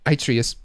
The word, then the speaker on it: Atreus: How do you pronounce that? Atreus.